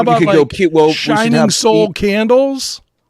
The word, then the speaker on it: Sol: SOL. I know, but for them to say it right, I don't want them to say Sol. Oh, I want them to say right. Soul.